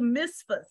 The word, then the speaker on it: Mizpah: And Samuel called the people together unto the Lord to Mizpah. And mm-hmm. I may be pronouncing that wrong. Yeah, Mizpah.